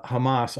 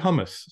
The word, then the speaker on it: Hamas: Trump thinks putting uh Hamas on Bagels is in good taste he he pronounced it hummus twice in the and and